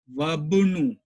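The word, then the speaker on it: وابن: Okay, but if it comes at the starting of the sentence, we will read it, we will pronounce it. Okay, so ibnu, ibnu, but here we will read ibnu ammarin, but in the second time we will read as wabnu. Hamza will be skipped, silent.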